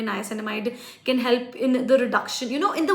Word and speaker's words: niacinamide: Pronounce this word properly. Niacinamide.